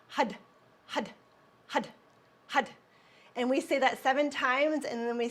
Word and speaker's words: Har: use for that is had, had, had. So it's spelled H-A-R, but it sounds like a D. Had, had, had. And it's the top of the tongue strikes the roof of the mouth. Hud, hud, hud, hud.